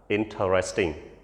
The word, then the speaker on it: interesting: going to the restaurant it's not restaurant ពាក្យទី3គឺយើងចំណាំតែអានថា interesting ឬក៏ interesting អូខេពាក្យនេះគឺយើងអានតែ3 syllable ទេ3ម៉ាត់ពាក្យហ្នឹងគឺយើងអានថា interesting ឧទាហរណ៍ដូចជា your story is very